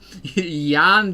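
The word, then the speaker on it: Jan: Yan is just spelled with a J. Yan is just with a Polish version of John.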